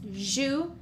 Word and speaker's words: jouer: Okay, here you have two syllables, jouer, jouer.